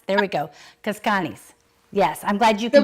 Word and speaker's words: Cazcanes: So tell me the proper pronunciation. Of Cazcanes. Cazcanes. There we go. Cazcanes.